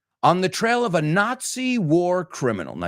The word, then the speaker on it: Nazi: the trail of a Nazi war criminal. Now you say Nazi, you say the Z like the Spanish. We say it like TZ, not Nazi, no?